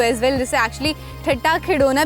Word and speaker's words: ठट्टा खिडौना: से खिडौना जाता है, लेकिन अगर इसकी एग्जैक्ट प्रोनाउंसिएशन बताऊं दैट इज़ ठट्टा खिडौना।